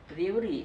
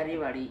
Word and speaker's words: रेवाड़ी: रेवड़ी या रेवाड़ी ये एक्चुअल प्रोनाउंसिएशन क्या है? Sir, it's रेवाड़ी.